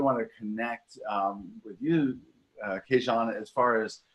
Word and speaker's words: Kees-Jan: For anybody who's wondering how you pronounce Kees-Jan, Kees-Jan.